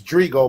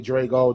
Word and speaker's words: Drigo: It's Drigo, but everybody call me Drago.